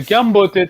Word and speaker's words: Kiambote: Ok, Kiambote Tata, cuidado a pronúncia, né? Kiambote. Basicamente são duas palavras, né?